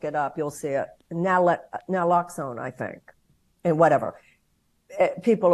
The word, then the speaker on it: naloxone: at this point, practically every home should have naloxone. Wow. I mean, is that how you pronounce it?